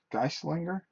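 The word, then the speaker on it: Geistlinger: Geisinger. G E I S T L I N G E R. you have won Conan. Congratulations. me guys. Linger is how you pronounce it and yay.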